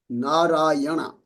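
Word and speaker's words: नारायण: here this word called narayana. Now here if you see the first letter N is the normal letter normal N like name right so there's this final N this has a dot under it now says can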